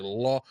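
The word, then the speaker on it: loi: When you L-O-I is like law. Who anybody in here ever watch hockey? Right? There's a top hockey guy back in the day named Patrick Waugh, right? Patrick Waugh's name is spelled R-O-I, right? So when you see L-O-I here, law in the French, it's the same, it's law, right?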